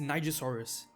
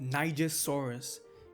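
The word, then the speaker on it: Nigersaurus: Cia, it's pronounced nigasaurus. Say it with me now. It's pronounced nigasaurus.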